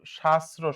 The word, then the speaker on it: শাস্ত্র: হ্যাঁ, আহ্বানের উচ্চারণটা হবে ভাইয়া আও ভান, হ্যাঁ, সঠিক উচ্চারণ। আর হচ্ছে শাস্ত্র, এইটা সকল প্রকারের এটা শাস্ত্র, শাস্ত্র, হ্যাঁ।